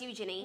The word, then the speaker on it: Eugenie: But Princess Eugenie is like just as close to What'd you call her? Eugenie. That's how you pronounce her name.